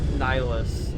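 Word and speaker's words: Nihlus: Niilus like N I like like N like Bill Nye and then like N like like N like like a nihilist.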